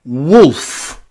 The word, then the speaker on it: wolf: Okay, the seventh way that we can pronounce O in English is O. O. Like in the word woman. Wo. O. Woman. Or bosom. Bosom. Or wolf. Wolf.